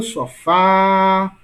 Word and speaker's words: sofá: Olha o sofá. Qual é a sílaba mais longa? Fá. Portanto, Fá é a sílaba mais forte, né?